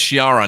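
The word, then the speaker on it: Schirra: I was thinking about the impeachment it's Wallace Chiara not pencil-neck Adam Schiff so she ARA and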